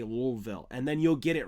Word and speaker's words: Louisville: Imagine yourself with a bag of rocks in your mouth when you say Louisville, and then you'll get it right.